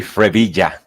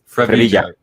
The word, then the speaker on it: Frevilla: It's actually Frevilla. Frevilla. It's the initial of my first name, and my last name, Revilla, but you can say Frevilla and it's okay.